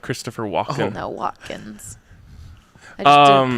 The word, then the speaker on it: Watkins: Walken, like Christopher Walken. No, Watkins. I just didn't pronounce the It's T.